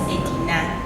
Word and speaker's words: Edina: Aldea means a village. Aldea. Yes. Means a village. Yes. But the locals were not able to pronounce that. So they pronounced it as Edina.